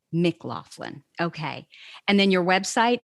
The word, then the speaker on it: McLaughlin: pronounce it because i know i'm going to mispronounce it sure yeah it's at mclaughlin mclaughlin okay and then your website can you spell